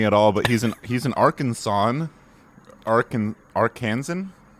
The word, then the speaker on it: Arkansan: I don't think this will help you any at all, but he's an Arkansan. Arkansan? How do you say that? Arkansas. He's from Arkansas. Arkansian. Sorry. Arkansian, yes.